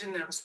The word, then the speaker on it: fontanelles: Is that how we pronounce? Fontanelles.